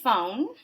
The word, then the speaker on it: phon: And I told you a minute ago that looks like the word phone. It is part of the word phone without the E, but it's pronounced phon, and you're going to see the word phone in a lot of these words.